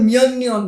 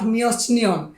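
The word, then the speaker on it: 몇 년: হানগুগে মানে কোরিয়াতে, মিয়ন্যন কত বছর, মিয়ন মানে এখানে উচ্চারণ হবে মিয়ন্যন, ঠিক আছে? নট মিয়চনিয়ন। মিয়ন্যন হবে, মিয়চ মানে কত, মানে মিয়ন মানে কত, নিয়ন মানে বছর।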